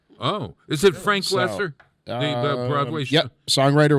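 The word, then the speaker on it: Loesser: Oh, is it Frank So, Lesser? The Broadway show? Yep, songwriter was Frank. Is that how you Go pronounce Bob. his name? Lesser, Yes.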